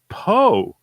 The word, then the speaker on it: Poe: In the 5 YouTube interviews, Adrienne clicked on, they introduced her as Poe, like rhymes with dope.